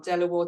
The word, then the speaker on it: De La Warr: the family name is although it's spelled as it is on the front of the building is pronounced Delaware but of course the